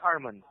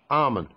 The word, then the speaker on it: Arman: again man her it's Herman oh I'm having difficulty there mate I don't want to pronounce it correctly okay it's okay Arman yes Arman Arman all right good